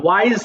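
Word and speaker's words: wise: এটা আবার উইজ বলো না, ওয়াইজ হবে, ওয়াইজ মানে জ্ঞানী।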